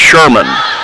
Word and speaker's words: Sherman: And back to serve goes Sherman. Rhymes with Herman.